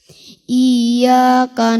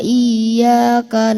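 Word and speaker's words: إِيَّاكَ: Iyyaka ditekan coba di apa namanya? Dihentakkan. Sedikit. Iyyaka. Iyyaka. Iyyaka. Ya, begitu bagus. Iyyaka. Barakallahu fik. Iyyaka, karena kalau tidak kita jelaskan tasydidnya menjadi iyyaka, jadi mat ya. Jadi panjang kan, jadi hamzahnya jadi panjang. Iyyaka jadi panjang, hamzahnya jadi mat. Nah, itu salah.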